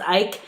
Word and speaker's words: Icke: It was the same thing with David Icke. Oh, I wanted to apologize. I think his name is pronounced Ike. Yes. I said it ick the whole time.